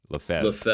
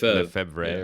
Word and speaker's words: Lefebvre: Lefebvre. Okay. Archbishop Marcel Lefebvre. I mispronounced it horribly when I first was reading